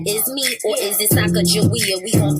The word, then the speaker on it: Sacagawea: It's your girl Sacagawea, or is it Sacagawea? Either way, we gon' pronounce it with a hard G. So listen to my story about me and my baby. Sacagawea, yes, that is me.